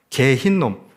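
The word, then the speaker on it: גיהנום: 개 흰놈. 발음이 좀 엄청 흰놈이 아니라 개 흰놈은 저도 말하면서 굉장히 그러네요.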